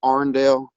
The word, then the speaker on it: Irondale: and you'll hear people call it Arndale. Mm-hmm. That's the local pronunciation, Arndale Road.